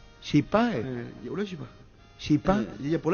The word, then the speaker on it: chipá: Chipá, Ya una chipa. ¿Chipa? Por la chipa. ¿Qué? Ese es en guaraní, ¿cómo se pronuncia? Chipa. La puta ya sabemos lo que Pero no es es chipa. guaraní, chipa.